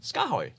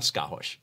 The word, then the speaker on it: SKAARHOJ: the oj do you know how skahoy is pronounced skahoy not skahosh but skyway so there you have it the